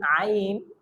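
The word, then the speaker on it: ع: Scene আইন দাল আইন একটু ভিতর থেকে, অর্থাৎ আমাদের যে কণ্ঠনালী আছে, আমাদের যে হলক আছে, কণ্ঠনালীর মাঝ থেকে আমাদের এই উচ্চারণটা করতে হবে আইন এবং হা।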